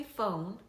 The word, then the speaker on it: phone: F 발음은 많이들 아실 거예요. 폰 단몬 오 발음이 아니라요. 우까지 넣어 주셔야 되세요. 어 발음을 하실 때는 약간 오와 어의 중간 소리죠. 나팔꽃 모양으로 입술 양쪽 콧신 다음에 혀을 뒤쪽으로 살짝 보내 보세요. 그다음에 우발름을 하실 때는요. 입술을 둥글게 모아 주시고 혀를 위로 올려 주세요.